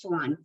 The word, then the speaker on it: Xuan: So my name is Xuan, pronounced like a swan.